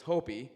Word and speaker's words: Hopi: that myself particularly and sorry you mispronounced it's Hopi and Chima wavy it's okay